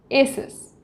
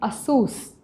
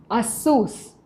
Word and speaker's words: Asus: many of us most of us we say asus but the real pronunciation is asus a source but we end up saying asus and we